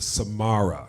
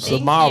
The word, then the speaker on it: Samara: So again, we're here talking with Samara. Did I say it right? You did. Samara, Thank you. just like the singer.